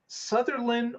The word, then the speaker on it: Sutherlin: This is about a new supercharger that's being built in Sutherlin, Oregon. Is that how it's pronounced, Patrick? Yes. Sutherlin, Oregon, which is on the I-5 corridor.